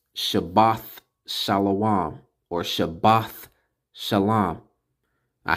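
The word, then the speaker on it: שבת: of atonement Sabbath year week Sabbath so it's pronounced Shabbat shalawam or shabbat shalom I have to put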